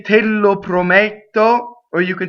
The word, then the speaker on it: Prometto: Prometto is closed D before a double T, right?